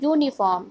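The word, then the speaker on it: uniform: Next is यूनिफॉर्म. Start you से है बट इसका प्रोनाउंसिएशन भी यू ही आ रहा है तो यहाँ पे ए लगाएंगे. Next is आवर.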